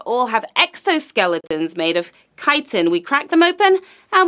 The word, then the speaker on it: chitin: Which of these animals has a hard outer shell made of a substance called chitin? Crab, human, koala. And yes, that says chitin, everybody. Don't pronounce it any other way.